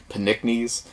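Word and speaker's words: Pnickies: title of this too it's like Nick knees with a p at the beginning but I'm assuming the p is silent panicknes and it was developed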